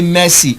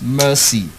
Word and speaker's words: mercy: term first term and we say messy Amy I'll see why messy is wrong is mercy mercy prefer not profane